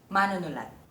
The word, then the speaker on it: mánunulat: The first one: Writer (mánunulat) The stress is on the má.